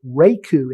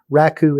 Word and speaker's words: Raku: Pearl six is Raku you will often hear me say reiku instead that doesn't mean you've been saying it wrong technically any of them are right it's just Raku is slightly more right I'm you'll